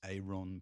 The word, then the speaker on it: Aron: Elvis Aon Presley there arriving into the world. Thanks, Bethon. I I did. There's the thing I learned from Peter Galick. It's not Elvis Aaron Presley. It's Elvis Aon Presley.